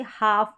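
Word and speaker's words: half: सकते हैं या फिर आप समझे तो एल जो है ना यहां पर साइलेंट है एल साइलेंट है तो सिंगल एफ ही बचा तो फ साउंड आ गया फिर है जी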